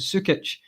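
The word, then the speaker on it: Sučić: I looked at how do you pronounce it? It's Sukic.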